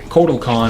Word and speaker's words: Kotal Kahn: marry marry Corky Connor Kotal Kahn or portal Kahn I apparently I've been mispronouncing him the entire time it's not quarto its total or quartile or I don't know